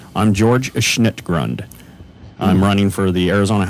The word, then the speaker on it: George Schnittgrund: I'm George Schnittgrund.